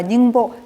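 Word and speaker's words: 宁波: 그래서 아이 배가 여기 지도에서 보시면 여기 영파라고 여기가 닝보 이제 중국식 발음으로 하면은 닝보거든요.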